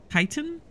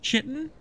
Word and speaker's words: chitin: Okay, also I learned that this is pronounced chitin? Titan and not chitin.